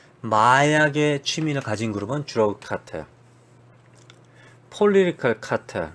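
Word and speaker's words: cartel: 이게 영어로는 사실 카텔이라고 합니다. 카텔이라고 합니다. 카텔, 카르텔이라고 합니다. 카르텔은 아마 스페인 발음으로 하지 않았을까?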